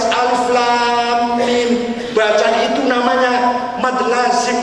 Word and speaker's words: Alif Lam Mim: tajwid Alif Lam Mim kita baca alam ya tulisannya kan sama alam ah itu salah bacanya harus Alif Lam Mim baca itu namanya mad